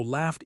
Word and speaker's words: laughed: Laugh. The gh sounds like f. F is unvoiced. So laughed equals laughed.